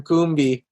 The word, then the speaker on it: Combe: like and now now finding out years later that i supposed to be calling you cam coombie makes as a